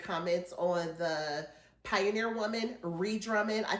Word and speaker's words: Ree Drummond: on the Pioneer Woman, Ree Drummond. I think I called her Rue Drummond on the video. That was my fault. I did not mean to say Rue. I know her name is Ree Drummond.